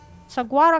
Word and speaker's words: saguaro: Saguaro cactus. No, not cactus. Stop that. Okay. Saguaro.